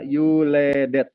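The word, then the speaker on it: יולדת: Yud lamed dalet taf ya, yuledet dibacanya, ini saya hitamkan.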